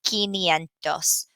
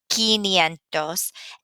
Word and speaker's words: quinientos: And the two that we're really having a hard time with pronouncing are 500, which is quinientos, quinientos, and 900, novecientos.